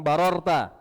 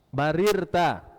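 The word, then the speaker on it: بَرِرْتَ: Kemudian juga sodakta wa barirta, itu juga tidak sah riwayat-riwayatnya, dan bunyinya itu Pak, di kalangan yang mengamalkan bunyinya bukan barorta, barirta.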